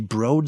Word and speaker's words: Broad: what only MSU alums would know is actually pronounced the broad School of Business and then she says best